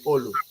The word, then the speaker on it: Olu: but the right pronunciation is Olu. I'm a Yoruba man.